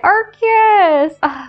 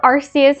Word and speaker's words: Arceus: Look at Arceus. Or Arceus, however people want to pronounce it. I pronounced it Arceus because that's how they pronounce it in the Pokemon Arceus movie, but whatever.